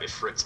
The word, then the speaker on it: Ifrit: Let's grab Ifrit's Matchstick. By the way, it is pronounced Ifrit.